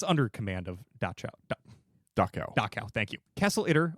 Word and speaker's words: Dachau: never pronounce this word, but Dachau or Dachau? Dachau. It's under the command of the nearby Dachau concentration camp. I say near, it's 90 miles away, but it's under command of Dachau.